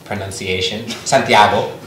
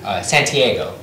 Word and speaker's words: Santiago: I start off with the correct pronunciation, Santiago.